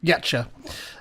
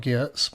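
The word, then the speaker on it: Giertz: you can see meet simone um yetcher that's how that's how you pronounce that her name there not gears um but yeah she's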